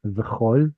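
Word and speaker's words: וְכָל: This one's the tricky one. It's actually a short O sound. V'chol.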